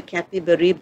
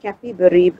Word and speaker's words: Capibaribe: That's another place that is related to the Capibaribe River, which you pronounce it as Recife or Recife.